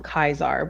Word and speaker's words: Caesar: They call him Kaisar, but it's spelled Caesar.